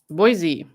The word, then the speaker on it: Boise: Boise. Oh, really? Okay, wait.